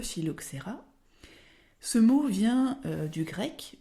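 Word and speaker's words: phylloxéra: c'est le mot philoxera alors attention on dit bien le philoxerra ce mot vient du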